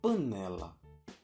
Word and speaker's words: panela: No caso de panela, a sílaba tônica é a segunda sílaba, né.